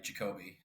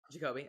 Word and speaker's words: Jacoby: No, you said it right, Jacoby. Jacoby.